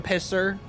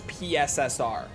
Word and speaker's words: PSSR: that uses the term pisser like everyone just calls it pisser it It became pisser after they announced it. No one says PSSR genuinely. I don't hear anyone actually say it properly ever.